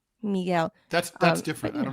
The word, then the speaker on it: Miguel: With Spanish stuff, we try to pronounce it the Spanish way. In English, you know, right? Miguel.